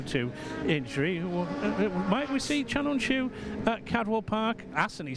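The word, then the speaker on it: Can Öncü: I have always said, like you, Larry, I say Chanonchu, giving it the Turkish vocabulary, giving it how Alan Hyde's done his research on it for us.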